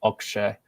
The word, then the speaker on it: Akshay: Someone tweeted at me once saying it's actually pronounced Akshay.